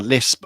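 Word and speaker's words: Liszt: Brahms and Lisp, or Lisp, is rhymes with pissed.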